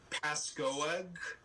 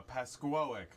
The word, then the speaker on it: Pascoag: to say the town pascoag oh no no it's uh uh pasquoic uh yeah pasteuric i've